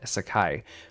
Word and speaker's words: Sacai: well as the new collab from Nike and Sacai. That's how you pronounce it.